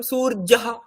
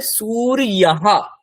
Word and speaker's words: সূর্য: তো সেইটা আমরা বাংলাতে যদি করি সেটা সূর্য ঠিক। কিন্তু সংস্কৃত ভাষাতে যদি আমি উচ্চারণটা করতে চাই তাহলে এর উচ্চারণ ই যেরকম হয় তেমন করতে হবে। তাহলে সুরইয়াহ সুরইয়াহ এখানে যদি আপনি সুরহা বলেন সেটা ভুল হয়ে যাবে।